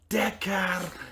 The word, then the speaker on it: Dakar: And the reason why I say it like that is because I wanted to know how to pronounce it for when I came on the podcast to talk about it, and that is literally exactly how the like text to speech thing worked.